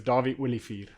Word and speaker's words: Dawie Olivier: My name is Dawie Olivier.